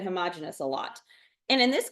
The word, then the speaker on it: homogeneous: The first one is homogeneous, and you may hear me or other people say homogeneous. Some people pronounce it that way, which is, it's okay.